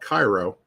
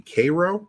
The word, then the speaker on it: Cairo: And then I mentioned to you guys, well, what I thought was called Cairo, Tennessee. It looks like it may be Cairo, actually, but it's spelled just like Cairo in Egypt.